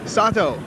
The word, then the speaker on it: Sato: do you say your last name is it sado sato sato i'm the merchandising manager in sony corporation at